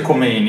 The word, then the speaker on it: Khomeini: In realtà si dice Khomeini. Khomeini si dice. Khomeini è la pronuncia alla francese.